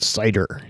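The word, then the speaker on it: CIDR: known as site er classless inter-domain routing pronounced cider and the site or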